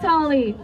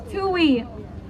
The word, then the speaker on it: Tui: Oh, and his name is pronounced Tuli, not Tali. Tui. Tui, his name is Tui.